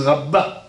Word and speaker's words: Rabba: à chasse en haut, le petit Aleph s'écrit Tsarich Lomar Rava avec Aleph, au nom du Rachal, Rabbi Shlomo Luria. Mais les autres Rishonim disent Rabba avec E, et c'est plus logique.